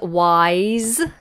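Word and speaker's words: why's: And then the next one is wise. Wise. Another homophone, because this sounds very much like to be wise, which is spelled W-I-S-E,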